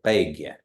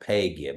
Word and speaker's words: begya: That's you want to say begya, not pegya, but begya.